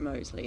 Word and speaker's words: Mousley: been in touch Dave surely the answer to how it should be pronounced is musley especially when the ground's been soaking overnight very good Edward thank you very much for that I tell I tell you how I know that he pronounced is at Mosley and that's when I